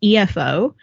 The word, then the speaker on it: efo: It's called EFO, I think is how you pronounce it. It's EFO. I looked it up.